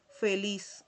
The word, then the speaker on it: feliz: Aquí tenemos la palabra feliz, que igual que en español se pronuncia como si al final tuviese una s, ¿okay? Feliz en español. Y igual en portugués lo leemos igual. Feliz es la misma pronunciación.